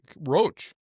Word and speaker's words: Roch: But he spells it R O C H. And you know, can you can you really pronounce rock when it's spelled like that? I don't know. I don't know. It's rock. Roach. Roach. Yeah, Roach.